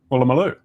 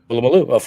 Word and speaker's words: Woolloomooloo: Ooh, Woolloomooloo. Am I saying that right? What is this? What was that? That's a place in Australia. And how do you say it? Woolloomooloo. Woolloomooloo, obviously.